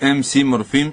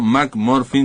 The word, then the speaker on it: MC Morfín: Pronúnciese MC Morfín y no Mac Morfin, como dicen algunos, porque se escribe igual, pero esto es MC porque es un rapero.